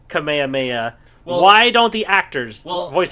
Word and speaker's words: Kamehameha: should play it again some people have said that you pronounce Kamehameha as Kamehameha but I've always found it you pronounce it like that when you are saying the name of it to somebody but when you use it as an attack you do Kamehameha and if you're supposed